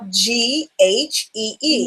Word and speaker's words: ghee: And just so people know, it's spelled G-H-E-E, and it's pronounced ghee.